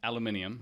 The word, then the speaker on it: aluminium: And then, like, let's say we make something out of aluminum, right? Aluminium? Aluminium.